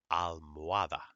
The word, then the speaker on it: almohada: Never, never, never pronounce an H in Spanish. Okay? If you see it, know it's there, but you don't pronounce it.